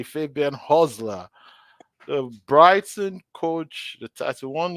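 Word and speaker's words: Hürzeler: I want to say his name correctly Fabian hosler the Brighton coach the T1 year old guy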